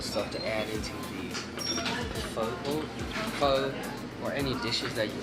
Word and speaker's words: pho: who doesn't like faux it's not po it's not faux it's pho so how you pronounce